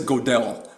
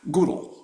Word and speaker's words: Gödel: Probably gonna pronounce his name wrong. Kurt, is it Gödel? I always said Godel, but Gödel.